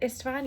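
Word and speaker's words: István: into this young boy whose name is Istvan, I think. Is that how you say it? Istvan, yeah.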